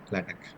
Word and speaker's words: LaTeX: simple ruction about the lat okay so we can use here the reason I'm once again repeat that not latex it's a lat or lat we can pronounce it is it is a